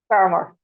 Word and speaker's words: Fermor: Is that pronounced correctly, Laurie? Fermor. Yeah, I Fermor. get all Okay. sorts. I get femur a lot as well.